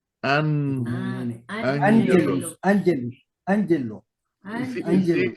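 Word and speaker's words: ἄγγελος: Que me diga lo primero cómo se pronuncia y qué significa. es. Ay, sí, permítame. Angelus.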